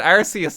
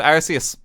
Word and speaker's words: Arceus: for a while though they do pronounce that arceus in this game i'm trying to see if i can find it maybe it's in this wait i'm sorry what was that it's canon you can correctly pronounce it arceus people always fight me on that point that i'm saying it wrong that was i believe